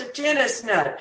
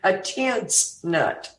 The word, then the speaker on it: atensnut: Pronounced a tennis nut. Okay. But of course, Democrats pronounce it a tense nut.